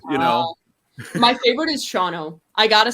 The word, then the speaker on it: Shawano: at Miss America is I was like somebody pronounced this and Shawano and I'm like Let It Roll Just shano that's it give him something like economowoc and